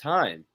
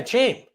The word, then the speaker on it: Chaim: Chain Bloom. No. Yes. Are you fucking with me right now or not? That's his name. No, it's not. It's Heim. You're just saying the word CHAIM. Yeah, Chain.